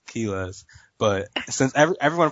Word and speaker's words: Quiles: Everyone pronounces it wrong in Spanish. So. Keyless? You know, Quiles, you're so white. King Quiles. Man, I had that in in my head. Spanish, so Q's are pronounced like a K, you know, so it's Kilas.